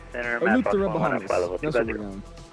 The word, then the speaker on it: Eleuthera: Eleuthera. Eleuthera, Bahamas.